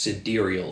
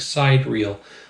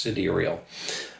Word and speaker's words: Sidereal: Or any other beer from Sidereal, or yes, it's pronounced Sidereal. It looks like Sidereal, but I found when we visited, it's pronounced Sidereal.